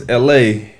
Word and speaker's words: ElHae: His name's ElHale, but it's spelled ElHae.